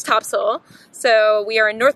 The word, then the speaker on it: Topsail: Heather you got it this time so we are at Topsail Beach I learned my lesson I called it Topsail because that's how it's spelled but apparently it's Topsail so we are in